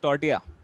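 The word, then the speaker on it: tortilla: Cuisine है, ठीक है, जिसका नाम एक्चुअली लिखा जाता है टॉर्टिला, बट इट is pronounced as टॉर्टिया।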